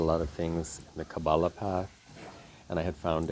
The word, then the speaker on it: Kabbalah: Learning Sanskrit led me into learning Hebrew because I had read a lot of things in the Kabbalah path, and I had found a rabbi who taught people Kabbalah.